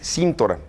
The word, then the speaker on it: Cintora: Le pido una disculpa desde ahora a don Salvador porque la pronunciación correcta es Cintora. Pero estamos haciendo un programa de ortografía y no tiene acento aquí.